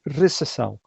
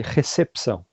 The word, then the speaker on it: recepção: a cerimônia de recessão como falam em Portugal em Portugal fala-se recessão e aqui no Brasil fala-se recepção a gente tem um p que não é mudo né mas em Portugal